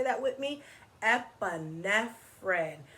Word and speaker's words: epinephrine: Let's clap it out in syllables. So when you do syllables, you clap for every sound of the word. So here we go. Epinephrine. Epinephrine. Epinephrine. 4 syllables in the word epinephrine.